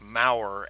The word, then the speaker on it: Moorer: and Moorer is obviously, or I guess it's really probably more pronounced Maurer, Maurer.